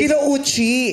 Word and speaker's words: Kinouchi: Kinouchi. Hindi nga. Tama ba ang bigkas namin? Kinouchi. Yes. Kinouchi.